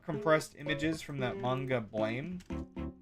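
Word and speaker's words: Blame!: images from that manga blame which should of course be pronounced blam um the one I liked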